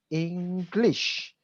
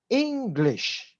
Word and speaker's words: English: So I noticed that when you were saying the word English, okay, you stress on the word lish. The way to pronounce it is English, okay?